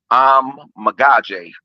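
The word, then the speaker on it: Kiran Amegadjie: other day Kieran and it's pronounced I'm magaj like I'm a God Jay okay he's a good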